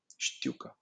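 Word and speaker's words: știucă: you pronounce this it's a little weird you pronounce it like this stuka it's very fast going out of your tongue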